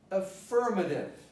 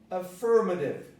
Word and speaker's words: affirmative: Now, this is the word affirmative. Affirmative. So the stress is firm.